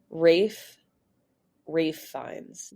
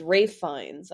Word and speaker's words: Ralph Fiennes: Rafe Fiennes. The L and PH in Ralph are silent and the E in Fiennes is not pronounced. So it's Rafe Fiennes.